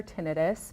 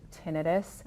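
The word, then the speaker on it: tinnitus: get a lot so I hear it pronounced both ways so ttis or tenus both are correct yep I would say it's more commonly pronounced tinitus in the medical culture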